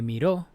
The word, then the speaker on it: miró: Me miró, this is the past tense of mirar, to look, and is the past tense, it has an accent, so you have to accentuate the last syllable.